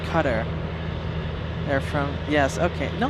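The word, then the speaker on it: Qatar: It's pronounced cutter.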